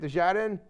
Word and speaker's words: Desjardins: Desjardins?